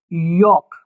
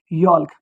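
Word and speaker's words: yolk: गया साइलेंट करना है किसको एल को साइलेंट कर देना है तो इट विल बिकम योक ना कि यल्क ऐसे ही फॉक ठीक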